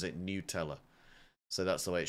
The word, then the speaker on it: Nutella: is what I've been dunking into my uh Nutella or newella they the apparently the company pronounces it newella so that's the way it should be pronounced